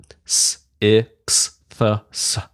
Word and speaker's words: sixths: S, I, x, th, s, sixths.